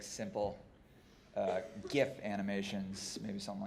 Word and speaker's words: GIF: After that, I guess milestones could be like simple GIF animations, maybe something like that, but. It's pronounced GIF.